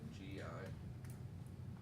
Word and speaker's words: gi: I think I'm pretty sure I thought G was spelled GI. What? Don't ask. Well, there is a word GI, but it's pronounced gi.